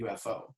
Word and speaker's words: UFO: and that's another thing so prox and and ufo are pronounced differently than it is here in america so it's pro x and ufo yeah um and then like